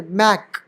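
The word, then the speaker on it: make: इसे ऐसे पढ़ते मैक बोलते तो यही बोलते मैक लेकिन इस मैक मैक हे मैक लेकिन य ई कर दिया तो मेक ई साइलेंट है लेकिन इस वाले को लंबा कर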